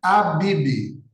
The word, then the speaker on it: Abib: também era chamado de abibe no hebraico porque o que que era o abibi é Abib mesmo assim como se escreve né abi que queria